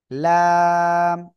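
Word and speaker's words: لام: তো এটা লাম অক্ষরটা লাম জিহ্বার আগার কিনারা তার বরাবর উপরে কিসের সাথে লাগবে জিহ্বার আগার কিনারা উপরে মাটির দাঁতের গোড়ার সাথে লাগিয়ে উচ্চারণ করতে হবে লাম হ্যাঁ আমি মনে করি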